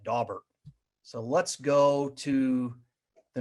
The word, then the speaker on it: Daubert: said that word right it is daubert and those of you who are looking to find pronunciations for cases that maybe you're struggling with there is actually a site out there at yalelaw.edu that takes basically every case ever and then actually had audio for how to say that so i've probably butchered that one before so uh that is how you say that dawber so let's go to